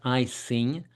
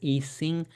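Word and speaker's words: Ising: It's not I sing. Uh majority of people pronounce it eing. And that would make sense being that's a German word and they wouldn't use the letter I to express the sound I.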